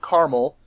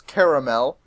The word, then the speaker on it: caramel: oh well whatever we'll how did you pronounce caramel with two syllables caramel with three syllables caramel I I use both